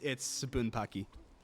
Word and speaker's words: Bunpachy: Now I just have to remember how it's pronounced, because I've pronounced it 2 different ways already. Zyudenryu Bunpachy. Let me read this. Yeah, it's Bunpachy.